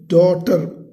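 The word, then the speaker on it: daughter: तो हर aunt was carrying her little डॉटर, पहले भी आया ये वर्ड, है ना। तो इसमें विच words are silent? G and H, डॉ, DAU, डॉ, और GH इज साइलेंट, इसको बोलेंगे नहीं, TER, इन हर लैप मीन्स गोदी।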